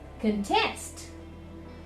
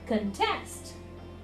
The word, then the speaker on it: contest: repeat after me context in the verb form it will become contest contest convert convert convert convert decrease decrease decrease decrease so this way